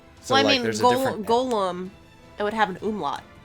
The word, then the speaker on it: golem: i mean it's a i specifically call it golem just so i don't mix it up with gollum because when i hear